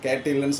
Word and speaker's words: cattle: அது வந்து கேட் நீங்க வந்து கேட் இல்லன்னு சொல்றீங்க கேட்டில்னு சொல்றீங்க அது கேட்டில் கிடையாது கேட்டில் கேட்டில் டாக்கு அப்புறம்